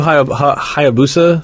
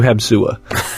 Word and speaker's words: Hayabusa: Like Ryu Hayabusa from Ninja Gaiden as a kid was Ryu Habsua. Like, I can't be bothered to read all these letters.